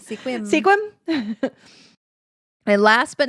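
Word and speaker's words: Sequim: another one that is commonly pronounced because it is spelled sequum sequum squim squim squim and last but not least the 26th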